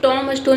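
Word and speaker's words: tombstone: लेकिन यहां पे आपको ध्यान देना है कि टॉम में बी आएगा।कि बी जो है ये साइलेंट रहता है। बट हम लिखते हैं लेकिन इसको प्रोनाउंस नहीं करते हैं। तो ये जो है स्पेलिंग ये करेक्ट है। द बी is silent.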